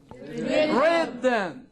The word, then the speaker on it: rhythm: Now letter H usually it is silent in the combination R H. at the beginning Of a word.